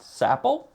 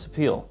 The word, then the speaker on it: Sapil: It is pronounced Sappel. Uh, I always thought it was Sil.